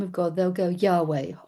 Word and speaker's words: Yahweh: They'll go, "Yahweh." Y vave the tetrogrammatron which we pronounce Yave and the Hebrew people actually don't pronounce at all.